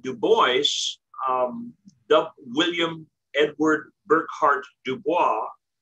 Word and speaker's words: Du Bois: Du Bois, William Edward Burkhart Dubois, I pronounce it Du Bois, but it's actually probably pronounced Dubois.